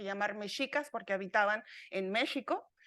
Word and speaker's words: México: mexicas porque habitaban en México la pronunciación real es México no México pero bueno para términos